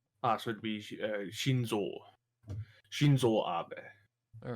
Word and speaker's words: Shinzo Abe: Is it because it's certainly not Shinzo Abe, is it? No, you're right. Shinzo Abe.